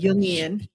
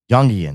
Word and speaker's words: Jungian: It's pronounced Jung, like a Y, Jungian. Uh-huh. Jungian.